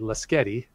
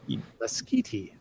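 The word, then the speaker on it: Lasqueti: how you'd know so I've never called it lasquetty I always said let's Getty like pasghetti but uh but I was also wrong it's a skiti there you go I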